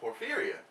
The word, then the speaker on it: porphyria: They're here wanting to spread some knowledge about porphyria. Am I saying that right? Porphyria? Porphyria. Yes. See, butchered it already.